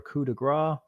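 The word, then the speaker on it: coup de grâce: As a full round action, you can use a melee weapon to deliver a coup de grace, pronounced coup de grace, to a helpless opponent.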